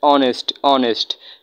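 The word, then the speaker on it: honest: কিন্তু এইখানে অনেস্ট এর মধ্যে এখানে কিন্তু কি নেই? এখানে কিন্তু এইস এর উচ্চারণ হয় নাই। এজন্য আমরা এখানে কি বসাবো? আমরা এন বসাবো। এখানে ও এর উচ্চারণ হয়েছে। অনেস্ট অনেস্ট।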